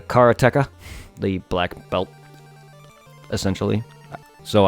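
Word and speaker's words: Karateka: keep forgetting this pronunciation it's the Cara TECA the black belt essentially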